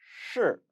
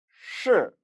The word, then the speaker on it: 是: 是, 是 건설음으로 발음해야 함에 주의하시기 바랍니다.